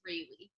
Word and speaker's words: Rayleigh: but my married name is Rayleigh, like Bailey, but with an R.